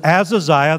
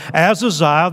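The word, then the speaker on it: Ahaziah: Here it says, chapter 22 and verse 51, notice this, Azaziah, the H is silent, Azaziah, the son of Ahab,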